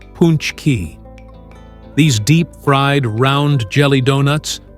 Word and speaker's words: pączki: But instead of king cakes or Mardi Gras madness, the spotlight is on one irresistible treat: pączki, pronounced punchki.